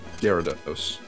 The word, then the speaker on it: Gyarados: Are you aware that there's a Y in its name? Gyarados? Gyarados? Yeah, that's how I pronounce it. Gyarados. Gyarados? Gyarados? Well, that's how I pronounce it, at least. I just imply the Y, really. I don't really pronounce it, but I you only